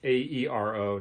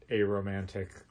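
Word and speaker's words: Aeromantic: to listen to it it's a ero not a romantic or not a rrow right well those pronounced that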